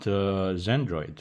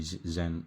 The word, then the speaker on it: Xandroid: a little bit about Xandroid. The I call it Xandroid. Yeah, but actually Zen it's the right way to say it. It's from Xenia, so it's Zen.